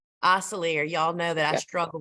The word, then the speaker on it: Osselaer: Osselaer. Osselaer. Y'all know that I struggle with pronunciation.